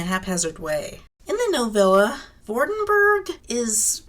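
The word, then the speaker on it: Vordenburg: In the novella, Vordenberg is spelled with a U, not an E, and also using the German pronunciation should probably be Vordenberg, because the German V is similar to the English F.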